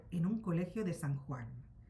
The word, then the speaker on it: Juan: No se pronuncia Gua, sino Juan.